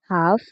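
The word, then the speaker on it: half: তো বেশিরভাগ শব্দেই এল এর উচ্চারণ হয় না যদি এল এর পরে কে থাকে, এম থাকে এবং এফ থাকে।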